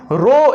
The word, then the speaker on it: rho: तो रेसिस्टिविटी क्या होती है भैया, रेसिस्टिविटी को हम रो, एक सिंबल है हमारा रो से डिनोट करते हैं, इसी को हम रो कहते हैं, RHO रो। यहाँ पे एस साइलेंट होती है, रो ही है जिसकी